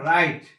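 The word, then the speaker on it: wrong: যেমন রাইট অর্থ লেখা, এখানে ডাব্লিউ উচ্চারণ হয় না। রং অর্থ ভুল, এই ডাব্লিউ উচ্চারণ হয় না।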